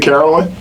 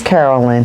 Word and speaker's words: Carolyn: so first of all did I say your name correctly is it Caroline it is Carolyn has your name ever been mispronounced in the history of your life Caroline really what yes a lot of my Latina sisters and brothers call me Caroline yeah but that's it